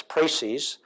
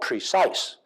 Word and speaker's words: précis: For the Francophiles among here, including myself, it's précis. And for others, it's called precise, which is interesting.